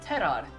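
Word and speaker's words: Terar: His name is Terror. But it's spelled in a funny way, T-E-R-A-R, because in my con lane, it is pronounced Terod, and it means star.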